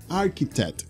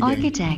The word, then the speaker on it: architect: very good listening is no archie not archy architect architect listen architect architect very good next one artist artista very